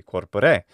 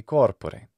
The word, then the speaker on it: corpore: of latin is that it has to have the right stress accent and the right location so it can't be corpore it can't be corpore it must be corpore so it is stressed